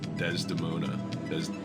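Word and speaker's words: Desdemona: one that hasn't taken their turn is uh dez demona did i say it right that time you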